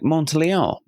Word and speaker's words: Montalion: So when we first met, I said, is it French? Is it something like Montalion? And she said, yes, pronounce it that way, please.